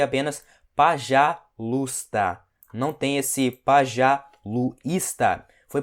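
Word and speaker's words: пожалуйста: você você pode ver que aqui tá escrito pajalusta só que esse e ele não é pronunciável é como se ele não existe isso aqui ok então a gente pronuncia apenas para já luta não tem esse pajalusta foi por isso que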